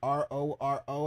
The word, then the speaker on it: RoRo: my viewpoints on it his name is r o r o I believe that's pronounced roro my channel is here